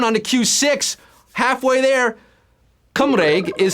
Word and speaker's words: Cymraeg: Cymraeg. What is it? Hungarian, Welsh, Macedonian? It would be Welsh. That is how you say Welsh in Welsh. Cymraeg.